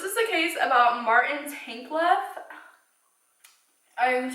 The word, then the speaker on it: Tankleff: So this is the case about Martin Tankleff.